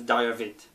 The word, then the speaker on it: Diarvid: I pronounce that as Diavit or Diavit, whatever.